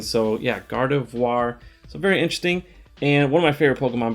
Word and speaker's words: Gardevoir: gardevoir i've been saying gardevoir uh like all time it's like not horrible pronunciation but it's gardevoir not god of war so checked with the